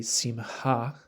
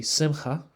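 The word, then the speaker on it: שמחה: So a Sephardic pronunciation would be simha, with the het sound being kind of a breathy sound. We have traditional Ashkenazi pronunciation, which would be simcha, harsher het sound, but with a different vowel, simcha, ha, simha, in the Sephardic pronunciation, simha, in the Ashkenazi.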